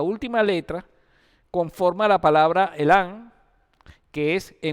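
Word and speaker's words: אלם: La palabra enmudecer se pronuncia elam en hebreo. Se escribe con la alef, la lamet y la men.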